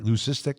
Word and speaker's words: leucistic: Now, in the open, I mentioned a extremely rare white Did I pronounce that word right? Leucistic alligator? Yeah, you did.